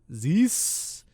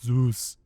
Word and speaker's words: Zeus: was like all right coffee's ready for a zeus zees he was like mispronouncing the name and then arnold comes up to the the counter and he's like it's zeus and i'm like wow i